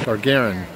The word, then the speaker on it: Gagarin: The Yuri Gagarin. Is that how you say his name? Gagarin? Gagarin.